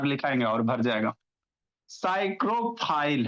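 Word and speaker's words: psychrophile: साइक्रोफाइल है, कैसे पढ़ेंगे, पी साइलेंट होता है।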